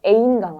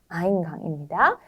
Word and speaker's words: Eingang: 홍어, Eingang. 네, 요거 기억하시죠? A하고 E가 만났을 때 I 발음되는 거 A인강 아니고 아인강입니다.